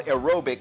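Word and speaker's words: Aerobique: And then, yes, it's called Aerobic, and it's spelled A-E-R-O-B-I-Q-U-E, Aerobic.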